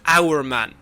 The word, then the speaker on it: Hour Man: who made this process famous, and that is Our Man. Do you know anything about Our Man?